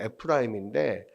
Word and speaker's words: 에프라임: 아들을 아들이 문나세와 에브라임이었는데 에브라힘을 찾아 있는 에브라힘을 오히려 장자로서 축복을 하잖아요. 근데이 에브라임이라고 하는 에프 그니까 원래는 이제 원어적 발음을 에프라임인데 에프라임이 어떤 뜻이냐면 아주 무성하고 열매가 많다는 뜻이에요.